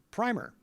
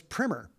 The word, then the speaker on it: primer: So, some people pronounce the word primer, and others will say it as primer.